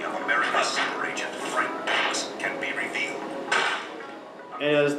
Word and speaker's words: Dux: Bloodsport is, as it's advertised, the true story of Frank Dux. No. Bloodsport is the true story of Frank Dux. It's a little hard to pronounce because it's spelled D-U-X.